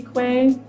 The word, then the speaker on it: kwe: k and my name on Twitch is Quay U which after Quay is spelled kwe and this girl that I watch